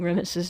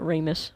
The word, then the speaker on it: Remus: Also, I've been pronouncing Remus's name wrong this entire time. I was always pronouncing it Ramus, but it's Remus, so oops.